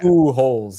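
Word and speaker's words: Pujols: of course is that is that how it's pronounced now you know they put like the pronunciation oh okay ooh holes yeah um what do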